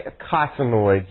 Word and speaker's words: eicosanoids: Yeah, we say eicosanoids usually, but you got it. Yeah, it's spelled E-I-C.